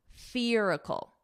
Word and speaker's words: spherical: And then you can add on the F sound, spherical. Now you can add on the spherical, spherical.